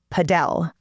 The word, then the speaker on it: padel: And uh while we're listening, paddle is spelled P A D E L. And some people in different parts of the US call it padell, but in Texas, most